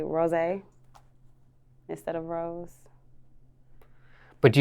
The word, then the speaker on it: Rosee: what is the correct way to pronounce your stage name rose is just with two e's why two e's that's just how i differentiate differentiate myself people mispronounce this yes terry she says rossi people misspell this yes they always use one